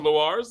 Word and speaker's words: Lewars: And also Lewars, and I'm pronouncing that correctly? Correct. All right, and Lewars, and she has written a book, and the